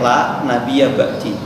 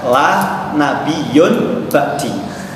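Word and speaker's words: لا نبيّ بعدي: Yang benar itu bacanya la nabiyya ba'di. Tidak ada nabi setelahku, kata Rasulullah SAW. Tapi sama orang ini yang namanya Mbak La mengatakan la nabiyyun ba'di.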